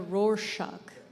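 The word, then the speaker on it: Rorschach: sheep in the clouds like a roar shock right that's how you say it the problem of course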